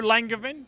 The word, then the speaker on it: Langevin: Langevin. Hello. Well, is that how we say it? Yeah, it's good, yeah. Langevin?